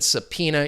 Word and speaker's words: subpoena: remember that with the the pronunciation subpoena you're not going to hear that b sound silent but the pronunciate subpoena